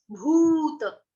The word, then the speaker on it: भूत: हैं, सर्व, सर्व, सर्वभूत, भूत, बड़ा ऊ, भूत, इसको भूत नहीं कह देना।